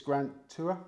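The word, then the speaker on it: Grant Tuer: now you use one trainer yeah and it's Grant tour yeah got the pronunciation right it is in North Yorkshire so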